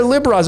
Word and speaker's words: Libra: I know a lot of people pronounce it, and I used to pronounce it this way, Libra or Libra, but it's Lib-Ra. There's Ra right there, the sun god.